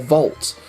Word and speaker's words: Volt: No, this is VOLT. Rhymes with Bolt, as in Usain Bolt.